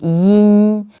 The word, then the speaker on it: 音: Where to pronounce yin sound, we also need to say E first to keep your mouth flat as if you are pronouncing the English letter E, and then use the back part of your tongue to block the mouth and let the air out through your nasal capacity.